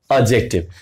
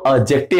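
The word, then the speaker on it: adjective: आपने पास एडजेक्टिव देखिए हम लोग ना हम लोग हर एक अल्फाबेट प जोर देते हैं तो हम लोग इसको एडजेक्टिव बोलते हैं जो सही उच्चारण है वो ऑक्टिव है यानी डी साइलेंट है लेकिन अगर आप मेरी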